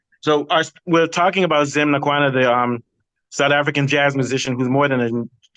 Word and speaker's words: Ngqawana: But Brian, you can tell how do we pronounce his last name? Yeah. Ngqawana.